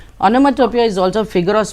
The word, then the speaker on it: onomatopoeia: interesting uh question this is um onomatopoeia you pronounce it as onomatopoeia onomatopoeia is also a figure of speech a very